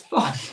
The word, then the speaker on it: Thom: And he's called Tom, but it's spelled Thom. Now, that's an American bit of Tom, if that makes sense. And You call it Thom.